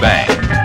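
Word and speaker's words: bhang: type containing the least thc is known as bang b-h-a-n-g bang and it's derived from the cut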